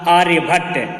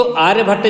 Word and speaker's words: आर्यभट: तो आर्यभट्ट जो थे, तो हम लोग भट्ट शब्द का उच्चारण करते हैं, पर वास्तव में भट्ट नहीं है, इनका नाम आर्यभट्ट है।